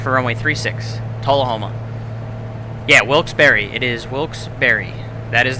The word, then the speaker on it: Wilkes-Barre: By the way, it's Wilkes-Barre, not Wilkes-Barre, Pennsylvania. Wilkes-Barre. I learned that from the locals at a bar in Wilkes-Barre at an overnight, so it's Wilkes-Barre.